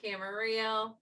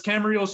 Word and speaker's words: Camarillo: true he is from camarillo yes it is true it really does rhyme with his last name it's such a weird